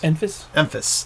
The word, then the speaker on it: Enfys: Enfys. That's it. I can't pronounce that.